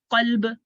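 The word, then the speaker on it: قلب: कल्ब को हम क्या पढ़ रहे हैं, कल्ब. डिफरेंस समझ आ रहा है ना, कल्ब एंड कल्ब, डिफरेंस समझ आया आप लोगों को?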